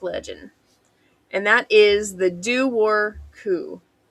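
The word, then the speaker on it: Dobhar-chú: and that is the Doo-Wor Coo. Now, this is the one I'm very thankful they had a pronunciation for, because I would not have said that looking at the spelling.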